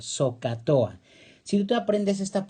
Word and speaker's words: SOHCAHTOA: La H recuerda que es muda, no se pronuncia, pero lo demás sí lo podemos leer. SOHCAHTOA.